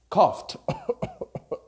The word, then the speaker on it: cough: Laugh or cough are spelled very crazily, but you pronounce f.